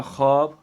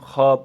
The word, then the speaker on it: خواب: یہ خاموش ہے، خود۔ اسی طرح خواب، خائی واو الف بے، لیکن کیا پڑھیں گے ہم اس کو، ہم خواب پڑھیں گے، خائی الف بے، یعنی تلفظ یہی ہوگا۔ اسی طرح خامخواہ، خامخواہ،